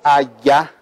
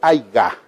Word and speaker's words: haya: A veces uno termina diciendo en lugar de haya y termina pronunciando el aiga.